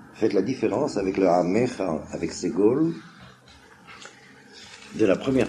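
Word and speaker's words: עמך: Alors, bien qu'il y ait un sheva sous le même, en prononciation ashkenaz, on dit Amcha, mais puisqu'il y a un dagesh, il faudrait dire Amecha, pas exactement E comme Seré ou Ségol, mais un sheva de Gusha se prononce E quand même.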